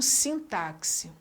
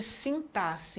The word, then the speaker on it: sintaxe: A palavra sintaxe, em muitos locais, é pronunciada como sintaxe, quando na realidade o som dela é estabelecido pela indicação de sintaxe. Então o X é uma das consoantes que mais apresenta essa variação de sons.